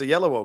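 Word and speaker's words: Oyelowo: name great actor she doesn't know how to pronounce it because he played um yes no you're right it's a yellow because he plays Martin Luther King yes absolutely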